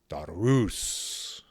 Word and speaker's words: Darius: me in my dream darus which is the persian way of saying the persian way of saying it 2 500 years ago that's what started me